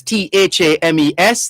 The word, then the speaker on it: Thames: banks of the river thames and that's t-h-a-m-e-s the h is silent the river thames over